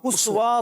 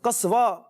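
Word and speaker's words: قصواء: اچھا جی حضرت ایک میسج پہ ایک وہ آیا ہے, وہ ہے اپنے اسوا نام اسوا تو نہیں, قصوا یہ اصل تلفظ اس کا.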